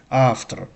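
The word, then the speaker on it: автор: avtor avtor avtor So, the v sound is softened. It's like f avtor.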